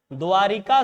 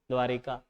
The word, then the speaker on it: द्वारका: श्री कृष्ण जी की नगरी द्वारिका। नहीं बेटा अशुद्ध उच्चारण शुद्ध द्वारका है द्वारिका नहीं है पकड़िएगा इका है बेटा स्त्रीलिंग नहीं है यहां नगरी है लेकिन द्वारका शब्द ही है और शब्द द्वारका जोड़